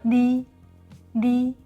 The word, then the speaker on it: 你: 你。 Okay. It's between L and N.